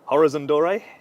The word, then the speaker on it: Horizon Doré: The pronunciation, Horizon Doré? Yeah. Okay, that's fine. It's been Horizon Doré, if you want to be really French, but French is not that good.